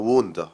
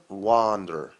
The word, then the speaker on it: wonder: طبعا انا تجنبت النطق الامريكان لكلمة wonder اللي هي المفروض تبقى ووندا، بريتش ووندا، امريكان واندر. تمام؟ واندر. تجنبت واندر عشان ما تلخبطش ما بينها وبين وندر، بس الفرق واضح.